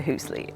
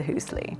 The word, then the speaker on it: Hüüsli: there was so much curiosity specifically about the Hüüsli. Okay, so now why do we call it the Hüüsli?